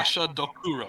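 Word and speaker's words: Gashadokuro: Gasha Dokuro. That's how you pronounce AKA the Dread Gazebo.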